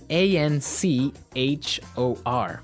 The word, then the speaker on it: anchor: another boat word here anchor anchor anchor now it's spelled a n c h o r right but you don't pronounce the CH as you normally would right another one of